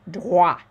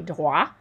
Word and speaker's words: droits: Okay, so garantir les, just like up here, les droits. So wa, that OI sound is like a W. We don't hear the T. We don't hear the S. Les droits.